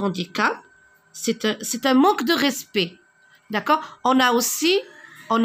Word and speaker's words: respect: jeunes à prononcent pas je ne prononce pas cette lettre le respect cela vient